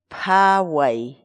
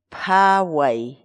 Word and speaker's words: phaway: de videos en la que te enseñamos a pronunciar algunas palabras en quechua. Así que nuestra palabra del día por hoy es Phaway, phaway, phaway, la palabra quechua.